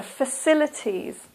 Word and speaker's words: facilities: The next one, facilities. Facilities. This also is a, and the stress is here in the second syllable, facilities.